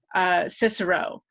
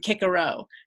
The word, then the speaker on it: Cicero: say about the pronunciation, is that sort of soft C, hard C thing is something that we've become really accustomed to when we talk about, say, Cicero. But his name really in Latin would have been Cicero. And, you know, same thing for Julius Caesar, it would have been Caesar. So would sound so weird to us, but it all would have been that hard C.